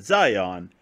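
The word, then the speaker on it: Xion: until we got to Zion the name that oddly shares the same name as that of the Matrix spelled differently but pronounced the same apparently and they even have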